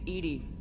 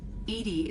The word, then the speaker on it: EDI: have a specific inquiry why are you named Edy Edy is the phonetic pronunciation of e di that is an acronym